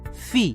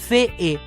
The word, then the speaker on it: fee: क्योंकि जिस तरीके से हमने शब्दों का उच्चारण सीखा है उस हिसाब से तो FEE का उच्चारण होगा फे ए, तो नहीं दोस्तों, FEE का उच्चारण होता है फी।